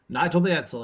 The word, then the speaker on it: Mansell: Nigel Mansell, yep.